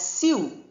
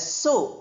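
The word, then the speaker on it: sew: Although it is written S E W we don't pronounce as Sue. We pronounce it as so.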